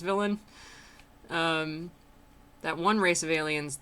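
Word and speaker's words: Villein: trapped here, and that the Valine, which he pronounces villain, so I guess it's villain, that one race of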